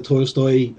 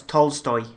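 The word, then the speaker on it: Tolstoy: it's based on the to stoy uh story did I mispronounce that as well yeah it's tol stoy Leo see yeah I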